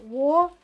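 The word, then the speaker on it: Worcestershire: up who who Herer is like War sest but there's no like it's not it's like the cess in incest it's like warshire if I was to break that up and I think I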